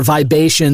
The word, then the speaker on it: Vibations: wonderful and uh listener vibration is spelled Vib a t IO NS like the vibe uh Asian there it is and uh yeah Ryan